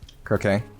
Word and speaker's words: croquet: Croquet Correct.